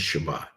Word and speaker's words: Shabbat: it is the Hebrew word 7673 and its pronunciation is Shabbat the primitive root for Shabbat is to rest